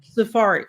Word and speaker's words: Sephardic: Sephardic.